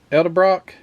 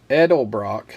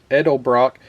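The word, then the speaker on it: Edelbrock: then these breathers um Ed Brock edel Brock let me say it right this is the one with the fins on it all the way down edel Brock and uh these are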